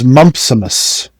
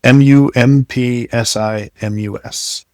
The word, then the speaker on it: mumpsimus: The word is mumpsimus. mumpsimus Yeah, like mumps and then i m u s attached to the end. m u m p s i m u s mumpsimus Is that overcoming something?